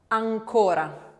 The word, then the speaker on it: ancora: ancora, Ancora. So you can see how the N can move about, but the sound is still nasal all the way through that and voiced.